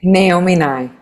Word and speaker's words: Naomi Nye: Pronounce your Sure, name my for name us. Naomi Nye.